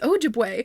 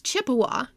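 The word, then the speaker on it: Ojibwe: little note about terminology which includes how to pronounce oju which is not in the looking back for Kristen on the trail the first White settlers mispronounced oju as Chipawa so that name was used during H's time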